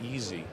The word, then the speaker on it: iSy: whole digital workflow very easy as a matter of fact the name of the implant is easy although it's spelled isy and um Robert or